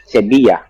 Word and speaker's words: Sevilla: Sevilla, Sevilla. Penduduk Sevilla. Anda membacanya dengan huruf 'b'. Sebila, sebia.